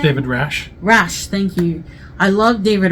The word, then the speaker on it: Rasche: Rasche, thank you.